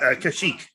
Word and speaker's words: Kashyyyk: Kashyyyk. And that's spelled wrong.